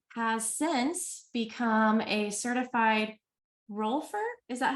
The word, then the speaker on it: rolfer: And Nina has since become a certified rolfer.